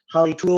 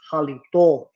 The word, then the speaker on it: Halito: Where they try to say it, because they always try to speak our language, but they can't even say it right. They'd be like Halitu or Halitus, when it's Halito or Yakaki.